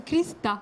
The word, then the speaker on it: Hrista: Parce que Krista. Krista. Bien, bien. Et pourquoi le H ne se prononce pas?